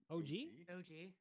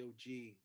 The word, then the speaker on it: OG: How do you say his first name? OG? Just OG. It's not Og. No. I don't think it's Og or Og.